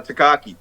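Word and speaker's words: Takei: uh George um uh takak te te te rhymes with gay said he said my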